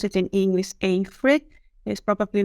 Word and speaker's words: Afry: Yes, Afry, or how we pronounce it in English, Afry, is probably not familiar to all of you.